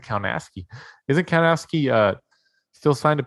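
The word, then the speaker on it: Kownacki: I think he pronounces it Kaunaski.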